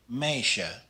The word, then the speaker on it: meisje: The EI blend sounds just like the IJ blend, like in the word meisje, meisje.